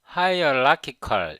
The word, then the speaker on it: hierarchical: 제가 이 hierarchical 이 단어는 제가 고등학교 때 배웠던 것 같아요. 이걸 발음을 해보면 hierarchical 이렇게 발음하잖아요. 저는 이거를 hierarchical로 발음을 했었는데 hierarchical가 higher가 아니고 hierarchical 이렇게 발음하잖아요.